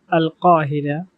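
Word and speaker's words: القاهرة: Here, the letter Qaf has pronounced with its own pronunciations because it's a famous name of religious book. Then Al-Qahira, Al-Qahira in modern standard Arabic, Al-Qahira.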